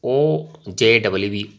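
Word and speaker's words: ogive: Okay, so the term OGU, OGIV is pronounced as OJWV, OGIV, and is derived from the word OG.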